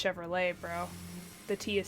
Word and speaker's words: Chevrolet: Chevrolet like the car it the car is pronounced Chevrolet bro the tea is silent I have been